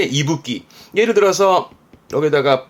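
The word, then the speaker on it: 息吹: 뒤에 거는 후쿠였으니까 이때 발음은 이붓기, 이끼에서 이가 나와 이붓기입니다. 이붓기. 뜻은 그러니까 숨을 내쉬는 거니까 뭐랄까 숨결쯤 되겠나? 숨결, 요런 게 이붓기.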